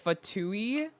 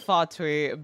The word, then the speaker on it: Fatui: how I dislike the the pronunciation of fatou yeah I like fatui better I I know it's not the proper pronunciation but it just sounds more serious more refined for what the term is used for fatou to silly fui sound better I see Sora auron